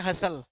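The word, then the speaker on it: hustle: इसको बोलते हैं हसल।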